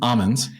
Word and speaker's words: Aman's: so so good so it is almonds which is how you say it I've been saying it wrong for years um and just brought